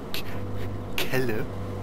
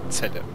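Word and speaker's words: Celle: Haltestelle hoffen wir es Zelle also Kelle oder chelle Nein Zelle das wird doch Zelle ausgesprochen von den ölzen ne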